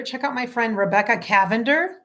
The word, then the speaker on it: Cavender: out my friend Rebecca Cavender, spelled like lavender with a C, Cavender, Rebecca Cavender writer on Instagram or Facebook.